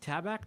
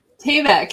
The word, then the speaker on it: Tayback: I got uh Kathy Flet and, how do you say Tabact or Tayback? Tayback. Yeah, Tayback. Thanks for letting me know.